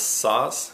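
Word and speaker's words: Szasz: you to read the books by psychiatrist thomas saws he passed away in 2012 his last name is spelt s-z-a-s-z he's written like 35 books he passed away at the age of 92.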